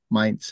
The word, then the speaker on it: Mainz: So we also say Mainz here, but Mainz is the official pronunciation.